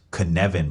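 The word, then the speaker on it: Cynefin: the San framework's principles it's pronounced Kevan by the way this framework helps in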